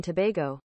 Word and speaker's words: Tobago: Trinidad and Tobago Tobago but is the American pronunciation different Trinidad in Tobago it's the same it's Tobago okay thank you